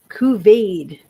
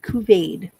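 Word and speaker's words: couvade: Okay, Kuvade is how we're going to pronounce this. It's C O U V A D. Kuvade.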